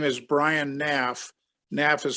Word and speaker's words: Knaff: your first name okay my name is brian naff naf is spelled k-n-a-f-f what's your agency it's called talent